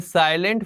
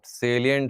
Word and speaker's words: salient: देंगे ठीक है सर साइलेंट फीचर है अरे साइलेंट नहीं है मैडम सेलियंट है सेलिट ठीक है क्या